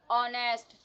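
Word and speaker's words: honest: First letter आपका silent होगा, जैसा कि हमने देखा अवर, ऑनेस्ट. इसमें फर्स्ट लेटर आपका साइलेंट था और जो सेकंड लेटर था वहाँ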